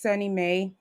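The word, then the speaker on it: SONYMA: like in new york there's sunny may and that's spelled s-o-n-y-m-a um and that's a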